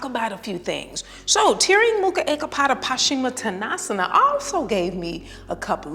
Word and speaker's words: Tiryang Mukha Ekapada Paschimattanasana: It's pronounced Tiryang Mukha Ekapada Paschimattanasana. One more time. Tiryang Mukha Ekapada Paschimattanasana.